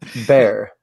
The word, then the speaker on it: Bear: Ethan Bear.